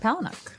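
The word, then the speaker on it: Palahniuk: something based on a book really by Chuck palanuk yeah palanuk that's how you pronounce that I always wonder it's a really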